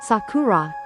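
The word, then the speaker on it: 桜: The word sakura sakura is pronounced sakura when used alone.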